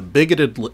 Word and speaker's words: BIGOT: out about the program unless you're on the bigot list there's another level above that which is